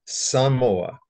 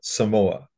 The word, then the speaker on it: Samoa: these islands is not the way that they pronounce it so it's Tonga not Tonga and it's Samoa not Samoa Samoa anyway um but the the whole sense